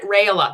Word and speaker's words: Raila: things out Jennifer Jen raila that's how you say her last name a lot of people are saying like how do you say your last name it's rail raila fuck fuck sorry Jen